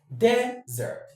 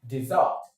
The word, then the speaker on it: desert: desert, desert, me though, me though. For the verb, a two-syllable verb will take its stress on the second syllable, desert, desert, desert.